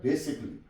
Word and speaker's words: basically: Number 2, किसी भी लफ्ज में डबल एल से पहले ए हो तो ए साइलेंट हो जाता है। For example, BASICALLY। अक्सर लोग इसको बेसिकली पढ़ते हैं, जो कि गलत है, बिल्कुल गलत है। इसे बेसिक, ये एल साइलेंट है यहां पे, बेसिकली। तो इसको हमने बेसिकली नहीं पढ़ना है, इसको हमने पढ़ना है बेसिकली।